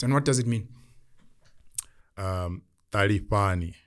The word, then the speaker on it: Talifhani: Talifhani. That's how you pronounce it.